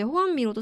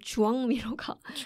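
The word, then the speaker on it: Joan Miró: 근데 이제 호안미로도 사실 에스파 그니까 가스티아식 발음이고 까탈루냐로 발음하면 주황미로가 맞다. 주황미로라고 해야 된다고 막 되게 열정적으로 말씀을 하시더라고요.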